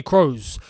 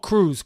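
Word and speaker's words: Kroos: here come real madrid tony crows crows crows not crews crows uh honestly or crows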